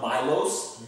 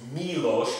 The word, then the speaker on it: Miloš: Miloš, it's not Milos, Miloš, because the I is an E sound.